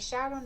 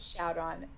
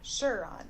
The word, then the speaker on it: Sharon: So For those of you that don't know, for my entire life when I've read this in my head, I have pronounced Sharon Shuron.